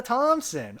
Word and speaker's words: Thompson: progi frenzy says Emma Thompson is my favorite Emma and my mom pronounces her name with it th like in thick oh Emma Thompson and